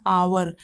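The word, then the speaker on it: hour: क्योंकि इसे हावर थोड़ी पढ़ते हैं, इसे हम लोग पढ़ते हैं आवर, ठीक है ना।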